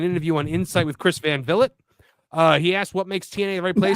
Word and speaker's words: Van Vliet: How do you pronounce the name? I think it's Chris Van Vliet. I thought it was Valet.